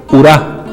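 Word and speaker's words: ουρά: manera especial por ejemplo el diptongo omicron ypsilon se pronuncia como una u un poco cerrada por ejemplo urá que significa cola un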